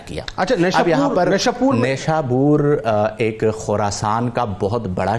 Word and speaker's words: نیشابور: بھی کہا جاتا ہے، اور ہمارے اردو کے اندر اسے نیشاپور بھی کہہ دیتے ہیں اور عام لوگ اسے نیشاپور کہہ دیتے ہیں. تو عربی میں اس کا جو صحیح تلفظ ہے وہ نیشابور ہے.